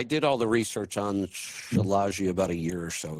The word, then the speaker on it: Shilajit: Do you take Shilajit? I do. Shilajit from the... Shilajit. Okay. Shilajit. Oh, is that how you pronounce it? Lisa calls it she-shit.